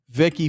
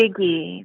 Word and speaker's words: Figgy: Vicky from Toronto. Got a nice voice. No, Figgy. Oh, Figgy. Like spell that. F-I-G-G-Y.